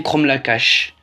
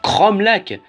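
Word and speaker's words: Cromlac'h: Cromlac. Je me souviens encore du let's play de New Titeuf qui disait Cromlacache. Alors qu'il n'y avait pas de ch dans Cromlac.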